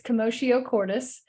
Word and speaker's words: Commotio Cordis: So I put the phonetics there because I've heard this pronounced so many different ways. So it's Commotio Cordis, and it means, it's Latin for commotion in the heart, which is very on the mark, right?